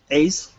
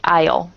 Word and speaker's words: aisle: walk down the cabin Ace until you reach your assign seat sorry Isle Isle oh yeah the S is the S is silent that's how you write